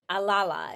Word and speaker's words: Alala: I'm joined by the amazing Denise now I pronounce it alala is that correct that's correct boom into it